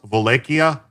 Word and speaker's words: Wallachia: Wallachia, like the in Polish, Slovak, and like a lot of Slavic tongues, the W is pronounced with a V, and a V is pronounced like a W.